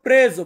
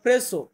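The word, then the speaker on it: preso: এটাকে আমরা উচ্চারণ করব প্রেজো। প্রেজো মানে হচ্ছে ধরা, বা এভাবে বলতে পারেন প্রেসো।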